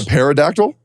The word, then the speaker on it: pterodactyl: of those with a pterodactyl yeah like or a pterodactyl dinosaurs pterodactyl oh he is silent see like I practice